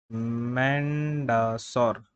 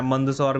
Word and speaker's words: मंदसौर: फिर जो इम्पोर्टेंट है यहाँ पे ट्रीटी ऑफ मैंडसौर, ट्रीटी ऑफ मैंडसौर, मैंडसौर या मंदसौर भी बोलते हैं, तो मतलब बेसिकली जो भी प्रोनाउंसिएशन है।